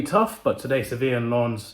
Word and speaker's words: Lens: Sevilla will be tough, but today Sevilla and Lens, it's pronounced Lens. I said Lens earlier.